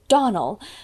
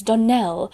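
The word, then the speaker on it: Donnell: you pronounced our name Donald now Miss Shirley the correct pronunciation of our name is Danelle Accent on the last syllable I hope you'll remember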